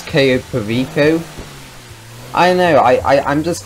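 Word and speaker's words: Cayo Perico: how to pronounce it actually i think i originally pronounced it the queso pacio and i have a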